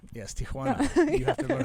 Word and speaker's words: Tijuana: and then there's the bull ring in downtown Tijuana Tijuana yes Tijana you have to learn how to pronounce it the right way right Tim piles